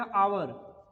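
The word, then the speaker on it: hour: जैसे मैंने लिखा आवर, ध्यान दो, स्टार्ट किससे हुआ है? कॉन्सोनेंट से हुआ है, लेटर तो कॉन्सोनेंट है, लेकिन जब हम इसको पढ़ रहे हैं, जब हम इसको प्रोनाउंसिएट कर रहे हैं, तब ये क्या दे रहा है? तब ये दे रहा है भैया आवर। क्या दे रहा है? आवर दे रहा है, आ दे रहा है।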